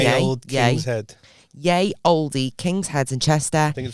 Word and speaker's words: Ye: Yay, because it's spelled like Kanye. Ye old King's Head. Yay Oldie King's Head in Chester.